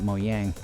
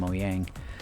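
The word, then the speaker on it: Mojang: want to pronounce it I say moyang because you know it's Norwegian or something for that effect I think uh and the J is pronounced as a y so yeah sound um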